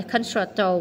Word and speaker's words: concerto: Cello, concerto, không phải concerto mà là concerto.